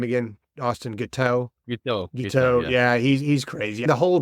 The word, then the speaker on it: Guiteau: Guiteau, Yeah, he's crazy.